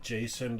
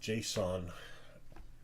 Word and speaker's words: JSON: yeah okay account Json I call it Jason a lot of people call it Json most people call it Json I don't know why should just be Jason why change the rules of English pronunciation okay uh whatever username